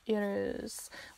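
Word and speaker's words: Uruz: ahead and talk about Urus. It's a very hard one to pronounce. It's kind of like saying rural, you know?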